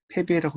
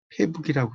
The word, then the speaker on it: 패배: 단독으로 쓰일 때는 북쪽이지만 이게 패라는 글자 다음에 올 때는 패배라고 읽는 게 아닌가요? 근데 이제 그 학생의 대답이 뜨악했어요. 그 이분이 어떻게 이야기했냐면 이 학생이 저는 패배의 뜻을 강조하기 위해서 패북이라고 썼습니다. 이렇게. 패북이라고 읽었습니다. 그것을 이렇게 이야기하더라고요. 이게 이제 아시다시피 북이라는 글자가 이제 방위 표시지만 이게 북쪽 할 땐 북이지만 달아나라면 배란 뜻이죠.